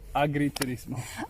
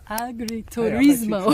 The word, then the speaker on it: agriturismo: Agriturismo. Agriturismo.